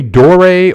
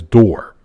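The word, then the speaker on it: Dore: Italian so I'm thinking I assumed his last name was pronounced dor but everyone us but everyone pronounces as do as door um big J what's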